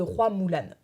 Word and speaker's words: Hua Mulan: elle raconte l'histoire de roy moolan oui c'est comme ça que ça se prononce en mandarin croix signifiant fleurs et